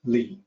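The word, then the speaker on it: 理: there's a character for that this character is pronounced Li it means rationality and reasoning it means the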